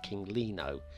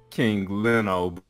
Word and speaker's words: King Leno: rattle on any further I've always read your name in my head as kingly no is that correct well it's actually king leno from the UK it doesn't matter y'all pronounced differently anyway so absolutely i'ma